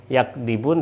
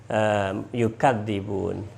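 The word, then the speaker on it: يُكَذِّبُونَ: Bukan yakdzibun tapi yukadzibun.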